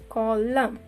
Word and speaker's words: column: Next one, column. There is no use of N here.